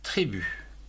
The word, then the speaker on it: tribut: Et tribu, T-R-I, tri, B-U-T, tribu, etc.